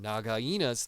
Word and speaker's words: Nagaina: But it is Rikki biting onto Nagaina's, that is how you say her name, Nagaina's tail while she dives into the snake hole and he gets dragged behind her.